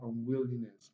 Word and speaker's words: unwillingness: So the only syllable that is stressed is will, will. So we have unwillingness, unwillingness, unwillingness.